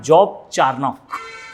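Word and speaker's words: Job Charnock: ठीक है, इसको जो है कई जगह जॉब चार्नाक भी कहा जाता है, बोथ आर राइट, जो थोड़ा सा प्रोनाउंसिएशन का अंतर है, आप इसे जो है नोट कर सकते हैं।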